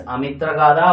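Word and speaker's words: Amitraghata: very famously known as amitra Gada or the Slayer of enemies okay uh actually the Greek had called him amitra chaitis they cannot pronounce this and he they had called him as amitra chaitas mainly because he killed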